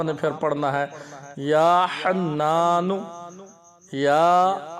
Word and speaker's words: حنان: پھر پڑھنا ہے یا حنان یا حنان، نقطے والا خا نہیں ہے بلکہ بغیر نقطے کے ہا ہے، اور تلفظات کی ادائیگی